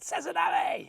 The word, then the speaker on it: Sazanami: Sazanami. You've got to say it like you're a samurai.